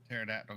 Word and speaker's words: pterodactyl: can't you hear a pterodactyl go to the bathroom did I tell that one right yes you told that one right because the p is silent yeah there we go